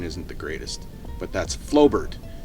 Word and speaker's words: Flobert: Uh, this shoots what's known as 9 mm Flobert. I'll put that on a screen because, well, I'm Canadian. My pronunciation isn't the greatest, but that's Flobert.